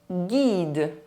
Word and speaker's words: guide: The letter U is not pronounced when it is between the letter G and a soft vowel, E, I or Y. Une bague. Un guide.